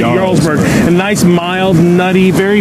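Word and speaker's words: Jarlsberg: they're amazingg National Champion J but you spell you pronounce it yurg a nice mild nutty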